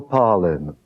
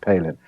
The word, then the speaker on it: Palin: full circle with parlin powell and so there's a lot of laughing around people who know my name is actually pronounced palin um and then it